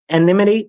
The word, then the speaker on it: anonymity: There's no um an anonymity anonymity.